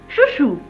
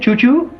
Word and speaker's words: Chou-Chou: Chou-Chou. Yeah, what is it, Chou-Chou? No, it's spelled C-H-O-U, C-H-O-U.